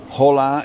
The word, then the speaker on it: hola: The H is not pronounced at all, ever, right? So hotel is hotel, right? Hola is hola.